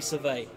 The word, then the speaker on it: surveil: or saffron olive sila French pronunciation of it which is French word would be survey with the silent L at the end but the Americans are